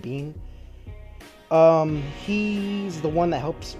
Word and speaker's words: Biehn: Played by Michael Biehn, I'm pretty sure that's how you pronounce his last name, Biehn.